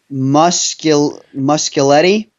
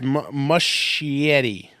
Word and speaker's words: Muschietti: So up next, the director of It, Andy Muschietti. Yep. Nope, there's no L in there. It's Muschietti. Muschietti, that's it.